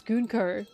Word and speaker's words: Gunko: Her name, that is how you pronounce Gunko. That is how you say her name. That is actually how you say her name, Gunko. Not Gunko.